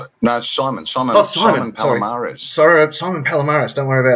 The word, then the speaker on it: Simon Palomares: Simone Palomé, is that how you pronounce her name? No, Simon. Simon Palomares.